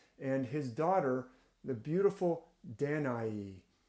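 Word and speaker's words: Danaë: pronounce it different ways it does have these two dots over the E so sometimes that means that e is pronounced as a separate vowel from the a so danai is one way that it's pronounced but the beautiful danai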